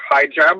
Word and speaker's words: hijab: I just wanted to mention that regarding the hijab, or how do you say that, hijab?